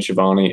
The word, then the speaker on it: Schiavone: Tony Schiavone and Bobby the Brain Heenan.